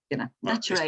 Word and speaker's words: Naturae: Some people call it Naturae, Naturae. Naturae is how I prefer to call it.